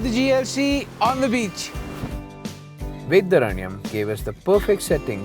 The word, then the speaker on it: Vedaranyam: Well, after driving for a long time in Tamil Nadu, on coastal Tamil Nadu, we have finally reached this place called Vedaranyam. Yes, I pronounced it right.